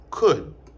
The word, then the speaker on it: could: après ces expressions là à remarquer également que il pas prononcé dans could and should. OK. N pas dit could mais nous dit could nous pas dit should mais nous dit should. N pas dit would mais nous dit would.